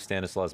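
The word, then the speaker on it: Stanisław: into pistols I believe Stanis Law's middle name is Stanis well sorry that is just how you pronounce stanislaw and that's his middle name and that's just a Polish name okay yeah see I'm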